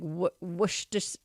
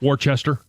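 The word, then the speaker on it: Worcestershire: Like I know I say the R and the worsture sauce, but it's like worsture sauce. Woo. Yeah. Yeah. But I always say the R. Worchester.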